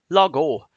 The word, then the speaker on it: Lago: Lago is how that's pronounced.